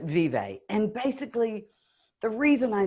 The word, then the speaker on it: Vive: So I pronounce it vive.